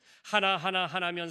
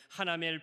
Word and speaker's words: 하나멜: 하나면 사는 사람이 아니고 하나멜 발음을 차려야겠어요.